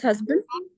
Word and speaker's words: husband: you say short no it's not it's not husband okay his husband when you have a short vowel sound of letter U it is it is very prominent sound when you say Hut when you say cut when you say you give more examples like in umbrella okay up so the uh sound is very prominent do you hear that promise the word husband no no no no